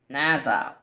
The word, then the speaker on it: Nassau: Okay, it says it's Nassau. With a stress on the first Nassau.